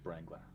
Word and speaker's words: Wrangler: It's Jeep Wrangler. Jeep Wrangler. Yep. That's how it's pronounced.